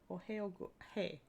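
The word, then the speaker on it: おはよう: Ohio hey. Hey, not hi, right? It's hey like make hay.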